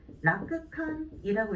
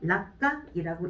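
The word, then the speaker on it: 楽観: 그래서 원래대로 읽게 되면은 라크칸이라고 읽어야 되는데, 얘가 이제 초금으로 바뀌게 되겠죠. 락간이라고 읽어주시면 돼요.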